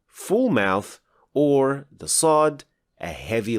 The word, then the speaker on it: ص: In other words, if you pronounce Sin as a heavy letter, you will get Sad.